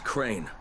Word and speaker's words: Crane: No, my name's Crane. Crane? Crane rhymes with train, and brain, and sane, and grain, and rain, and plane, and the other kind of plane, and...